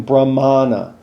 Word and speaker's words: Brahmana: But this word is actually, if you see the A with the line over the top, then it's a but you're saying Brahmana.